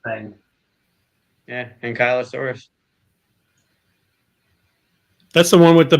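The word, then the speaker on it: Ankylosaurus: I always thought it was Anglo versus anky. I thought it was Anglo too but you pronunciation thing. Yeah. Ankyosaurus.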